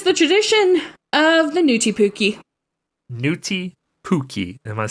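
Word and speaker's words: pukki: yeah okay you gotta you gotta be careful you can't say pukey because then that's like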